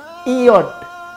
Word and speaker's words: yod: Yod, IOD. Bacanya IOD. IOD seperti ada Y. Tapi itu IOD, YOD hurufnya I.